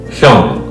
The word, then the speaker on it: hyung: And the third syllable is hyung.